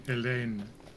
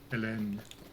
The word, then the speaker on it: Hélène: Actually, the H wouldn't even be pronounced, I believe, so it would be Hélène. Hélène. If it's French.